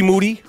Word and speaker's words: Moody: I'm with G Moody. The last name rhymes with duty.